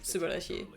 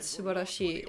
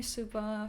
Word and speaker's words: Subashi: Uh just call me Suba for short but it's Mr. Subashi.